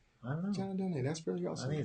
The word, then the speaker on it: Donne: Oh, is that how you pronounce his name? I always thought it was John Donne. Maybe it is. I don't know, but I mean, I thought it was just a rhyme, rhyme together. John Donne.